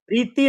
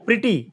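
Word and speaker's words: Preity: इनका मूल नाम तो प्रीटी झिंगटा था। जेड आई एन जी जी प्रीटी प्रीति नहीं प्रीटी वो अंग्रेजी वाला प्रीटी सुंदर प्रीटी वुमेन वाला स्पेलिंग तो वही लिख रही है अभी मतलब अभी तो लिख रही है इनका नाम लेकिन हिंदी में प्रीटी का प्रीति हो गया प्रीति जिंटा हिंदी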